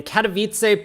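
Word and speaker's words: Katowice: I mean, I also know that W's are like V's in Polish.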